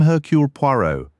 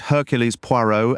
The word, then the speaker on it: Hercule Poirot: "That's it," she said, pronouncing it Hercules Poirot, adding an S to the first name and sounding the T at the end.